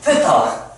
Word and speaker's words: 세타: 자, 그렇게 해서 그 세타라는게 이제 TH 발음 세타 정확하게 빼 빼게 각을 미지으로 표현할 때 이제 이렇게 써요. 펀데이 뭐야? 알겠지? 세타.